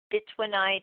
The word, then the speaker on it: bytownite: Little piece of that's bitonite, which is a wonderful stone. But bitonite is how I call it. It's spelled BYTOWNITE.